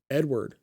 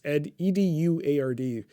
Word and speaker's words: Eduard: And the name Shevardnadze didn't hit me until Edward. I don't know. It's Eduard. I remember in the news they would pronounce it as Edward.